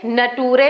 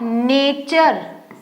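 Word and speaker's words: nature: टी यू आर ई तो आप इसे नटूरे ना पढ़ो एन ए न ट में छोटे ऊ की मात्रा यू र में ए की मात्रा रे नटूरे राइट अगर हमने बाराखड़ी के हिसाब से पढ़ेंगे और जो रूल्स हमने पढ़े हैं स्पेलिंग्स के उस हिसाब से ये इसे पढ़ा क्या जाएगा आएगा नेचर यानी टी यू आर ई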